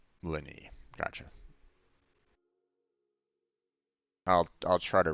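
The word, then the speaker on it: Lyney: for that maybe it's just a thought it's pronounced Lenny oh okay all right Lenny gotcha I'll I'll try to remember that all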